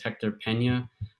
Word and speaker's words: Hector Peña: name and title so everyone knows how to pronounce it correctly let's go hey hello everyone my name is hector pena i am a cyber manager for our detection